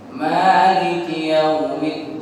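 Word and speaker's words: مَالِكِ يَوْمِ الدِّينِ: Cara bacanya ada dua. Ada dua versi bacaannya sesuai dengan imam yang diikuti. Kalau bacaan yang biasa kita baca, bacaannya Imam Hafiz dari Imam Asim, mimnya dibaca panjang, Maliki Yaumiddin.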